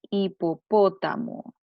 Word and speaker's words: hipopótamo: La palabra hipopótamo. Hipopótamo. Fíjense, la sílaba tónica está en la antepenúltima sílaba.